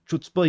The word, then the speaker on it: chutzpah: Bravery is omits chutzpah, pronounced like chutzpah.